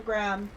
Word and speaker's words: graham: because yeah it is spelled like Graham but they're gram yeah at least that's how my family's always uh pronounced it oh God Lex